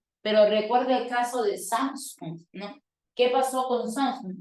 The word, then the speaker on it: Samsung: fábrica esdrújula surcoreana Pero recuerde el caso de Samsung No qué pasó con Samsung no tiene resalte